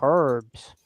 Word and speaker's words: herb: don't give these people herbs okay why do you pronounce it herb Janes the H is silent it's herbs he from you leave